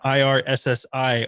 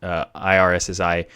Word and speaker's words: Irssi: I think the easiest one to set up is probably Weechat, but IRSSI, and I think it's actually pronounced IRC. I think that's actually how they're supposed to be.